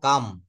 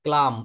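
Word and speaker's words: calm: এটা উচ্চারণ করব কাম। কাম মানে কি বলেন তো? কাম মানে হচ্ছে শান্ত। নট ক্লাম। এটা আমরা ক্লাম বলবো না।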